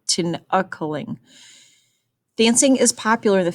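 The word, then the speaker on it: Tinikling: It says, Tininkling, Wait, let me pronounce that better. Tinakaling.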